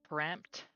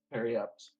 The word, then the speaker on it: periapt: That's how you spell that. I was wondering. Of what? When you said like parapt, Periapt.